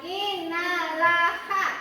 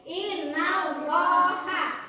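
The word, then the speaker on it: إِنَّ اللَّهَ: Contohnya di sini ada innallaha, bacanya bukan innalaha, bukan, tapi innallaha, harus dibaca tebal.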